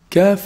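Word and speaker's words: كاف: Kaf is pronounced from the back of the tongue, but it's actually closer to the mouth from the qaf articulation point. So the articulation point of the kaf is actually the back of the tongue, but it's closer than the qaf.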